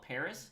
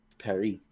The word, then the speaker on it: Paris: Paris it's not called Paris it's actually called Paris Perry no wait Paris or Perry's Perry the exercise Perry's okay Perry no okay yeah the S is silent because it's French I've been learning so